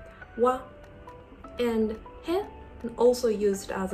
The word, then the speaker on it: は: So when it is used as a particle, it is pronounced as wa, wa, and he also used as a particle.